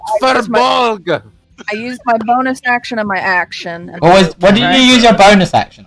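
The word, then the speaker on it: Firbolg: It's pronounced Furbolg.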